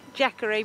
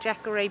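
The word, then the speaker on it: Jacaré: things well we're jacker a beach and I think I said it right this time we've had our knuckles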